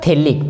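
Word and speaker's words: phthalic: क्या नाम होता है इसका, थैलिक, पी इसमें साइलेंट रहता है, थैलिक एसिड के नाम से ये जाना जाता है, थैलिक एसिड।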